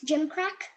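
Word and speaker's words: gimcrack: Jim crack Jim crack is this how you pronounce Jim crack yes that's right what is the definition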